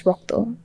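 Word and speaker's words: রক্ত: So in Bangla, the way we say blood is rokto.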